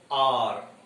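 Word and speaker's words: hour: H is silent letter, that's why this word is pronounced like R. R. It is pronounced as R.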